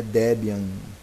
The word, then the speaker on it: Debian: Motorola etc e tal a pronúncia oficial do Deb é Debian Debian nome vem de nome do criador de murdoc e a sua esposa Débora Format do pacote é